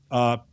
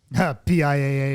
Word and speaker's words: PIAA: It's equipped with Terra Engineering MCS suspension, braid wheels, PIAA. How do you pronounce that, Mental? Pia? Is it Pia? PIAA is actually how I always say it.